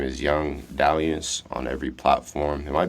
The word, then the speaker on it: Dalliance: my name is Young Diance on every platform. It might be on some platforms, but it's spelled like D Alliance. Um, so if you can spell D Alliance, just put it together.